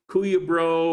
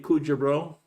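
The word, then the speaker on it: Cuyabro: And this nickname, and pronouncing it as an English speaker, it looks like Kuya Bro or Kui a Bro or something like that. It's actually Kujabro, Kujabro, Kujabro.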